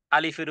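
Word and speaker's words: alif: তাহলে আলিফ যদি বলি দুই ঠোঁটকে যদি একত্রিত বলি করি এটা ভুল মাখরাজ মাখরাজ মানে উচ্চারণের জায়গা এটা ভুল তাহলে বলতে হবে আলিফ আলিফ মুখের মধ্যখান থেকে যেই খালি জায়গা জায়গা থেকে উচ্চারণ হবে এবং এখানে কোন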